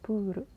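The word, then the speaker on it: プール: bahasa Inggris yaitu Pul karena orang Jepang itu enggak ada huruf L maka eh pembacaan itu Pur R itu jadi R buru kantor polisi kesatsuso kesatsuso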